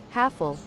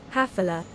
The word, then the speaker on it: Hafele: If you have the American accent, ganito ang pronunciation ng brand na ito. Hafle. And in Europe, ganito naman. Hafila. I think it's Hafila that closest to its origin.